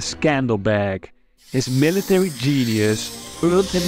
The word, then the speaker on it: Skanderbeg: Lord Alexander in Albanian this name would be pronounced as Scandal bag his military genius earned